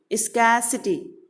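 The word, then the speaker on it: scarcity: Here is what, स्कैसिटी, स्कैसिटी। आर is little bit silent, है ना, थोड़ा silent है, एकदम हल्का सा टच करते हुए आगे पढ़ना है हमें।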